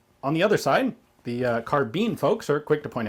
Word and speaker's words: carbine: troy gal5 replica of a u.s air force carbine copying what are you talking about what did